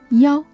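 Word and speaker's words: 一: In real-life context, you may hear some Chinese people pronounce the number 1 as yao instead of yi, especially in a phone number.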